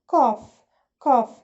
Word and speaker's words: cough: كحة cough. الجي اتش بتتنطق فا.